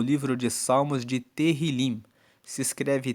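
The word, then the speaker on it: Tehilim: No hebraico, no livro original da Bíblia, eles chamam o livro de Salmos de Terrilim. Se escreve T E H I L I M, que quer dizer louvores.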